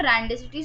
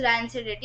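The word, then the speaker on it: rancidity: This is नॉट रैंडिसिटी, sorry, this is रैंसिडिटी, आई मिसप्रोनाउंस्ड इट.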